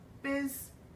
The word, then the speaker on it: business: If you look at that word, you want to pronounce it busyness or binness. But the way that we actually pronounce it is one full sweep. It almost sounds like this business. This almost sounds like a Z. Business. You almost don't even hear that I in the middle.